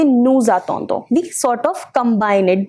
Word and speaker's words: nous attendons: But when such words are followed by a word which start with a vowel, you will pronounce the ending of this word. So it becomes, instead of saying nous attendons, we say nous attendons.